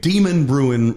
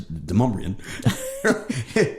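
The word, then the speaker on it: Demonbreun: And of course, we have Demon Bruin Road, which is not how you pronounce it. It's Demumbrian.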